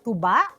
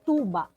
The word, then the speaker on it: tuba: They don't say tuba. It's pronounced tuba. Tuba.